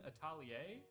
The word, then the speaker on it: Atelier: I believe Rune Atelier. I'm gonna Rune.